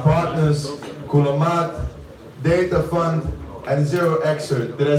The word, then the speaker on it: 0xcert: to thank our partners, Kulamat, Data Fund, and 0xcert.